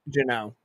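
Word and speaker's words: Jeannot: Janat, right? Jano. Jano.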